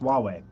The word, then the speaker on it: Huawei: as being socially insensitive weh-weh huawei Huawei that's right it's pronounced Huawei so the cell phone